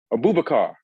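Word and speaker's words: Aboubakar: Abubakar.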